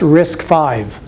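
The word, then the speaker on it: RISC-V: if you're interested in that it's called it's pronounced risk five and i have a couple i have a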